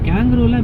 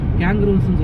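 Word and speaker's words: kangaroo: கேங்கரூலாம் இப்போ நான் அந்த கேன்பரா சொன்னேன்ல, அதுக்கு போகும்போது ரோட்ல இதுலலாம் எக்கச்சக்கமாக பார்க்கலாம். அது எப்படி ப்ரொனவுன்ஸ் பண்ணுறது? கேங்கரூ. கேங்கரூ. ஏன்னா கங்காருலாம் சொல்லுவாங்க. அது நம்ம ஊருக்கு ப்ரொனன்சியேஷன். அது கேங்கரூஸ்ன்னு சொல்லுவாங்க. கேங்கரூஸ்.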